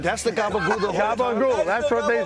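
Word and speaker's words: gabagool: Gabul. Gabul. I know it doesn't look like it's spelled that way, but that's how it is. That's the Gabul. Cabul.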